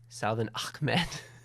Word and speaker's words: Salvon Ahmed: fantasy league winner, then you take how'd you pronounce his last name? I don't want to get it wrong. Salvon Ahmed.